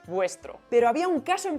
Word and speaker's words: vuestro: Y si vemos esto, no vamos a decir estro, vamos a decir vuestro.